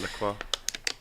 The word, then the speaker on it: Lacroix: Am I pronouncing that right? Lacroix? Yeah, Lacroix.